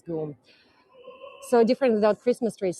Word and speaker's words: GUM: also speak French and in French it's written like goom so it's clear that it's pronounced as goom so different without Christmas